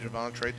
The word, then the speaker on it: Javontre: And you said the young man is Javontre. That's how you say it? Javontre Duff.